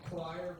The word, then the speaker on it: Quire: It sounds fine choir, but it gets mispronounced a lot because it's not spelled like church choir.